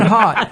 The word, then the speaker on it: Haught: Haught. Rhymes with taught.